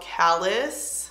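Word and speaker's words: Callas: It's called Callus. A lot of people ask, C-A-L-L-A-S. I think that's how you say it, like Dallas, except with the C.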